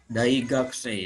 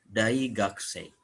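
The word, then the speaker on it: 大学生: Anata wa daigakusei desu ka? Ya. Jadi daigakusei itu mahasiswa atau gakusei saja itu mahasiswa. Jadi ku u-nya lemah. Seolah hanya ka ya, hanya dibaca ka. Gakusei, daigakusei.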